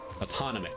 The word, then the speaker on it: autonomic: Autonomic. That's the word. That's how you pronounce it.